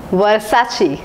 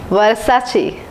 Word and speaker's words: Versace: it's Mufti here's the next brand it is pronounced as Versace Versace Versace is an Italian brand long back in